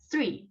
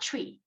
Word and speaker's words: three: greet you okay and pronounce the beginning ending sounds like th okay that's three okay not tree okay uh t ch